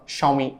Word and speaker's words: Xiaomi: ஸோ இந்தியாவில் இருக்கிற எல்லாருமே வந்து Xiaomi அப்படின்னு சொல்லுவாங்க. பட் ஆக்சுவலி அதை எப்படி நீங்கள் ப்ரொனவுன்ஸ் பண்ணணும்னா Xiaomi அப்படின்னு தான் ப்ரொனவுன்ஸ் பண்ணணும்.